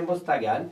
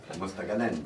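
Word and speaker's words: Mostaganem: Ben voilà, les moins, donc c'est Mostagant, c'est terminé. Voilà, c'est bien dommage. T'as vraiment un problème avec les prononciations quand même, toi. Hein. Je m'en fous. Mostagant, Bon, bon, alors je vais dire comment. Mostaganen.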